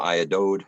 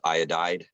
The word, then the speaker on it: iodide: the potassium iodide, I believe it's still pronounced iodide, Iodide, is yes.